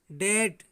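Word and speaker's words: debt: मतलब बी को लिखते तो हैं परंतु बी को हम पढ़ते नहीं हैं।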